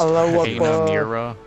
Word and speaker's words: Hanamura: It's pronounced Hanamura.